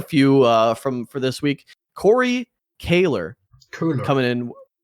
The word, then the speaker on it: Köhler: It's Kaler. Why? It's an OE. It's O. Kaler. No, it's Corey Kaler. We asked him on stream, and he said that you guys, it's weird that you guys say his name wrong because you're German and it's a German name. But anyway, let's not embarrass you. Let's just, let's just answer Corey Kaler's question. For all the Germans out there, it's spelled Koelher. That is Köhler.